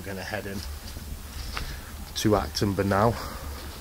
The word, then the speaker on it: Acton Burnell: We're going to head in to Acton Burnell, or Action Burnell, as I kept pronouncing it, as I've said.